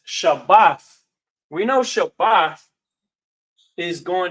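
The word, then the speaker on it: שבת: this pops up because they may pronounce this Shabbat. But I say Shabbath mainly because we understand the root word to be Shabbath.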